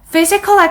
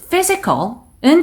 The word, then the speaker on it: Physical: 그리고 Physical Activity가 나왔는데 Physical은 첫 번째 소리의 강세, Activity는 T 부분의 강세예요.